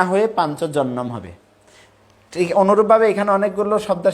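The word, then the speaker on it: পাঞ্চজন্যম: এবার আমি সুদ দিয়ে বলছি ধর্মক্ষেত্রে কুরুক্ষেত্রে বেতা উৎসবহ মামকা পান্ডবাচব কিম কুরবত সঞ্জয় হরে কৃষ্ণ শ্লোক পাঞ্চজনম ঋষিকেশ দেবদত্তম ধনঞ্জয় পন্ডম দম মহাসংকম ভীমকর্মা বিকদরাহ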